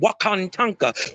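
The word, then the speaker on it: Wakan Tanka: That's the Iroquoian way of saying it. Is Wakantanka. That's how you say it. Wakantanka.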